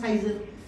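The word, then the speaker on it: seizure: Scissor इसको बोलते हैं साइजर, सही प्रोनाउंस साइजर।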